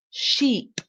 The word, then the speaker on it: sheep: And the sound at the end is eep, eep, sheep. So the eep at the end is longer, more drawn out sound.